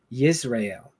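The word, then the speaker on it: ישראל: In Hebrew, it's Yisrael, so it's Y like Yahshua. Well, that's the Messiah or Joshua. You're But yeah, here to teach. yeah, in Hebrew it's Yisrael, so it has nothing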